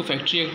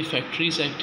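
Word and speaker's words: Factories Act: कभी कभी हम प्रोनाउंसिएशन में इसको फैक्ट्री एक्ट बोलते हैं, जबकि ये फैक्ट्रीज़ एक्ट है।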